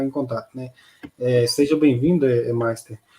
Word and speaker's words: Meister: É que eu estou confundindo fazendo confusão com a pronúncia do seu nome aqui. Como é que tá as modas? Tudo bem aí? É Meister, sim.